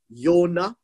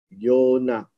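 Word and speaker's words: יוֹנָה: the word jonah or yonah that's how you pronounce it okay yonah remember in hebrew there is no j so jonah is actually a greek name so it is pronounced as yonah and jonah means dove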